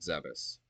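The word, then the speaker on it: Zebes: place on zebus yeah I pronounce it zebus deal with it um and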